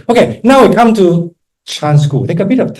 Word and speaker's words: Chan: it's not Zen it's chan chan okay we are not Japanese right Zen is the Japanese pronunciation of the Chinese character Chan okay so the same